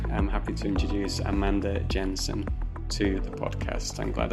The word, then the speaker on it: Jensen: special guest today I'm happy to introduce Amanda Jensen to the podcast I'm glad I I pronounced that correctly I was about to say Jansen but Jens how are you today I'm great